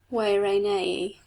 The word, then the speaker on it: Guarani: Heaven knows how we pronounce it. They, the Guarani people, call themselves Wairanei in a soft musical voice.